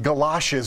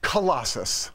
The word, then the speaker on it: Colossus: One guy called him Galoshes Rex, as though he was a pair of boots. What's his right name? Colossus. Like the Colossus of Rhodes.